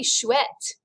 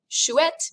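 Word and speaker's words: chouette: few more class say schwett schwett means really neat really cool it's a little old-fashioned but i just like to say it same as in english just pronounce it with a good french accent super saiyan geniel is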